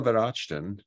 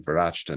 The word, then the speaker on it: Verachten: So Bruno Verachten and I have checked, that is in fact how he pronounces his last name, Verachten, not Verachten. It's not German, it's French.